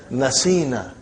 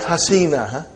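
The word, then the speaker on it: نَسِينَا: So how will you pronounce now, brother? You will pronounce as Nasina. Not Hasina. Nasina.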